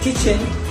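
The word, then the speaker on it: kitchen: एम इन द किचन, तो किचन बोलते समय KI के ऊपर दबाव है, इसलिए वहां हम एसेंट इस्तेमाल कर रहे हैं। और N दूसरा सेलेब जो इसी स्पेलिंग का है उसमें E के ऊपर दबाव है, इसलिए वहां पर एसेंट लगा हुआ है।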